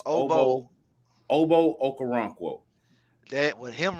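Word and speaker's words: Ogbo Okoronkwo: Oh, hey, it's Obo Okoronkwo. Now, how you pronounce his actual real first name, I don't know, but he just goes by Obo for his first name.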